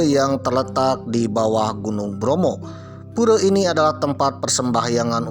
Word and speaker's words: Bromo: Oleh karena itu nama Gunung Bromo tersebut ya diambil dari nama Brahma, karena pelafalan orang Jawa ya, atau orang Jawa, kata A jadi O pemirsa ya, Bromo. Waduh, Brahma jadi Bromo.